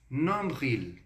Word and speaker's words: nombril: Então, no sufixo, ou seja, no fim da palavrinha, você vai colocar dessa forma. Il, animal, d'accord? Nombril, en français, umbigo. Então, pronuncia aqui comigo. Nombril.